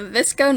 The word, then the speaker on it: VSCO: the scrunchies in hydra flasks the history the visco name comes from the photo editing app pronunciation vsco this ghost stands for visual supply company it is an app that was created in california 2011.